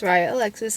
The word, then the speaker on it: Raya Alexis: my channel hi one my name is raya alexis that's how you pronounce it so i graduated in